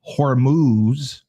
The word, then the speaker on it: Hormuz: Trump threatened to strike Iran's oil heart and threatening to send Marines to reopen the Strait of Hormuz.